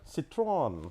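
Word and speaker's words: Citroën: Citroen.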